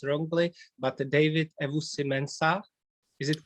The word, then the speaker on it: Ewusi-Mensah: pronounce your name so correctly please if i pronounce wrongly but david evo simensa is it correct you did a great job